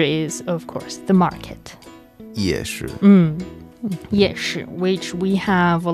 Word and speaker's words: 夜: 夜. The fourth tone, which is night. And 市 is, of course, the market. 夜市.